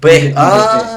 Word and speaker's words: pues: Like it's supposed to be pues, but like P. Yeah, but they don't pronounce it all the time.